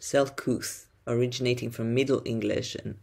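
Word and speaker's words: Selcouth: strange unusual rare unfamiliar marvelous wondrous and it's pronounced self-couth originating from middle english and old english it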